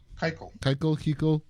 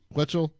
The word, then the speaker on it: Keuchel: I always say his name wrong. Keuchel. Quetchel. Keuchel.